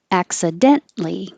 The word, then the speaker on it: accidentally: in there accident accident accidentally you don't say the t before the l your accident li you're already in the same place so just skip the t mr mister actually sounds